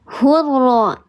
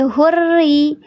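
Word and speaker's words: الرجس: Tapi huruf ra di sini kasrah, berarti dia dibacanya bukan hurra, tapi hurri.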